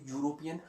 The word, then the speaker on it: European: यूरोपियन country मैंने पहले बता दिया, यूरोपियन यू से स्टार्ट हो रहा है, साउंड जे का जाता है।